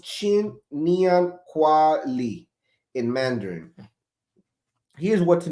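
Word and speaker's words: 新年快乐: saying Ganji Hei Fat Choi in Cantonese or Xin Nian Kwao Li, pronounced Chin Nian Kwao Li in Mandarin.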